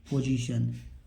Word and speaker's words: position: POSITION, यहाँ पर सा का क्या पढ़ेंगे? जा पढ़ेंगे, पोजीशन।